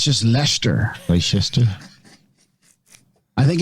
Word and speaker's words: Leicester: I prefer those pronunciations. I think it's just Leicester. Yeah, it's just Leicester. Leicester.